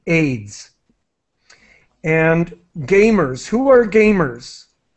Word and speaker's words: AIDS: in English we say AIDS we pronounce this as a word AIDS and Gamers who are